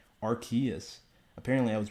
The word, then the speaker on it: Arceus: what pokemon legends arceus i believe it's called archaeas apparently i was pronouncing it wrong my entire life um but